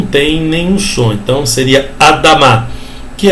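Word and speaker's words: אֲדָמָה: Isso aqui é um M e outro A, Adamá, tá vendo? Aquele negócio de sílaba tônica, às vezes tem, às vezes não tem, tá? Então não é uma regra fixa. Vocês viram que tem duas ali? Adamá.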